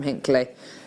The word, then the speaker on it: Hinckley: Yeah, you are from Hinckley. Hinckley? Is that? People talk in Inkler like they're from Lancashire. Inkler. Inkler. They just don't pronounce anything properly.